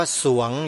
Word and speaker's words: สรวง: ไว้ ว่า อย่าง ไร สรวง ส เสือ ร เรือ ว แหวน งู อ่าน ว่า สรวง โยม ออก เสียง ร